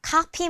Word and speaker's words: copy: 그리고 여기 copy machine을 쓰고 있는데요. copy machine. 이때는 입술끼리만 만났다가 팡 터트리면서 발음이 납니다.